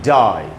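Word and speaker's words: die: दूसरा वर्ड है डाई, इसे भी सेम बात है, आई का उच्चारण लॉन्ग वावल वाला हो रहा है, ई साइलेंट है।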